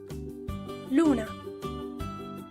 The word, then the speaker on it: luna: The U is pronounced like the letter U in the English word rule. U. Luna, luna.